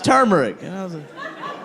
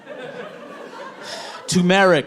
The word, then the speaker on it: turmeric: the monkey one that explained what turmeric is turmeric no tumeric oh tumeric why didn't you say so I love turmeric oh